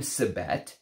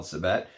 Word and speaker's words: Sibet: He's never smelled Sibet. But he said that in other cultures, sometimes the V sound, civet, can sometimes sound like a B, or they pronounce it as a B, right?